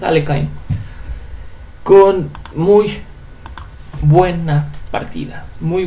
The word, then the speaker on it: Alekhine: En esta ocasión, un jugador aficionado venció al ex campeón mundial Alexander Alekhine, Aliokhin, como le gustan decir, mi pronunciación favorita es Alekhine, con muy buena partida, muy buen resultado, muy interesante.